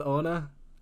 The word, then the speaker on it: Ona: i am here with is it anna is that how you say it oh no yeah okay we're here with anna um she is a